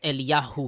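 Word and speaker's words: אליהו: Yah was supposed to be the abbreviation for God's name, and this has a J in it, but we don't pronounce the J, so it's Eliyah. It's Eliyahu Well, here.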